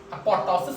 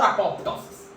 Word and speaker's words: apoptosis: takes place in apotosis apotosis or apoptosis p is silent can be apoptosis or apotosis so necrosis classical feature